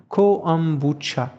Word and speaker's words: kombucha: la kombucha prononcé comme coombucha en russe hein donc littéralement algue